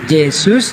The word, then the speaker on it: Yesus: Bahasa Belanda huruf J dibacanya Y. Jadi Yesus dibacanya Yesus.